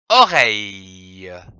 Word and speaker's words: oreille: La lettre R et le son EI donnent la syllabe reille, comme une oreille. O, O, R-E-I-L, reille, L-E, le, que l'on prononce oreille.